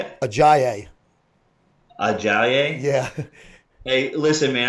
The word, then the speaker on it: Ajayi: Ajayi.